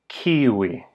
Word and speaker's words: kiuj: The plural version of who or which like in a sentence like these are the ones who you like is kiwi.